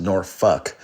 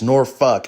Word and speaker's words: Norfolk: So it's uh spelled Norfolk, but it's pronounced Norfuck.